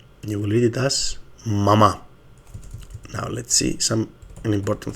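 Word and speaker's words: μαμά: So here the word will be mama. But here the word will be mama. Okay, so mama. The correct Greek word is mama.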